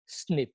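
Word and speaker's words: SNP: এটাকে বলে স্নিপ, এসএনপি বা উচ্চারণ করা হয় স্নিপ।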